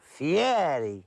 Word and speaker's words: Fieri: call it Fier but the E the r and the i in Italian you roll it Fier why like what is